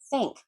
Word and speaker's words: thank: Thank you, not tank you, not dank you.